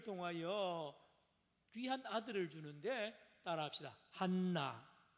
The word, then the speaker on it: 한나: 한나. 또 따라합시다. 한나. 여기 히브리어 원어로 발음하면 한나입니다. 한나는 이 은혜라는 뜻입니다.